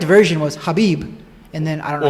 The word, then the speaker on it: Khabib: say his name and the correct version was habib and then i don't know because it was